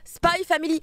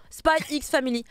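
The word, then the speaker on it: SPY×FAMILY: Mais la même chose pour Spy Family, arrêtez de dire Spy X Family.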